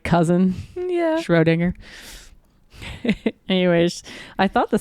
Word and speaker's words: Schrödinger: It's Schrödinger. Yes. Juliet Mariah Schrödinger. sounds like it's like Schwarzenegger's like cousin. Yeah. Schrödinger.